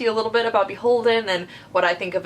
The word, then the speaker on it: BHLDN: It's Beholden, so now you know how it's actually pronounced.